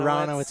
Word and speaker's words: Aronowitz: Aranoitz would be the correct pronunciation. Hard to know where to put the emphasis there. Ronalditz, of course, we apologize for that, but he's a great player.